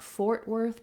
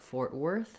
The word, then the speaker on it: Fort Worth: We have stress is on worth in this. You don't want Fort Worth, but Fort Worth, second syllable stress.